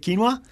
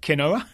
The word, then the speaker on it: quinoa: and spicy orange salsa with quinoa yes or as my mum pronounces it canola yeah Queen oh yeah